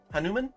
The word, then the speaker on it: Hanuman: Fire King Avatar Hanuman Hanuman it almost looks like it says human but Hanuman I believe is how you pronounce that he kind of looks